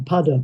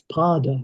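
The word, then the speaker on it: pāda: I was thinking pada, but it's pard. It's got a long a so it's got to be foot, hasn't it?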